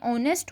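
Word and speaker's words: honest: Before a silent as, अब देखें जब भी हम हमारे पास ऑनर हो या ऑनेस्ट हो या आर हो तो हम यहाँ पे ए साउंड प्रोनाउंस करते हैं, हम नहीं करते, हम तो उसके एज को साइलेंट रखते हैं।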